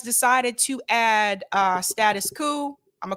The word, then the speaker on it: Status Coup: either party's agenda well said well said status coupe is pronounced coup i've heard people say it both ways eric i've heard people say status coupe i've heard people say status cool i don't